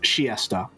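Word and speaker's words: Chiester: to Winchester and also apparently it's pronounced shiesta might just be a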